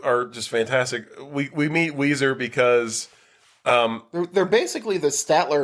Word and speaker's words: Ouiser: If it's not Weezer, I don't want to talk about it.